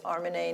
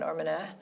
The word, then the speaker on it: Armineh: Harmony you know I know that you're the pronunciation of your name is armanay not armina because I listened to a book that was